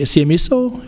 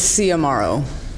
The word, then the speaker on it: Ciamaro: It's Ciamaro. Like see you tomorrow.